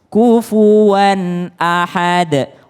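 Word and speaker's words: كُفُوًا أَحَد: aksi membacanya kufuwan ahad ini tanwin and ketemu dengan Hamzah ketemu dengan Hamzah maka dia tidak boleh kufuan ahade enggak tapi langsung kufuwan Ahad kufuwan Ahad ya qulhuallah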